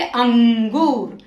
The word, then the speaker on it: अंगूर: और इसकी ध्वनि कैसी आती है, इसका उच्चारण नाक से होता है, जैसे अंगूर।